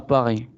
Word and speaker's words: Paris: On ne prononce pas la S. Paris. No pronunciamos la S.